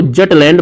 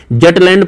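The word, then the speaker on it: Jutland: Denmark देश है वो जटलैंड प्रायद्वीप पर अवस्थित है। जटलैंड प्रायद्वीप या जूटलैंड प्रायद्वीप, आप इसे किसी भी प्रोनाउंसिएशन से पुकार सकते हैं।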